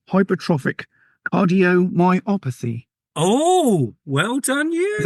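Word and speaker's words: hypertrophic cardiomyopathy: Bethany has a condition, and I'm going to try and pronounce this now, called Hypertropic Cardiomyopathy.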